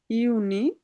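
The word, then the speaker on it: Juni: Mass April my, ইউনি, ইউলি, August, September, October, November, December.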